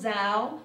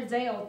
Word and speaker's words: Zhao: Today we have Aditha Naidu, Lisa Arfons, Lulu Zhao, because I've been calling her Zhao for forever. And I just realized that I'm pronouncing it wrong. It's Zhao.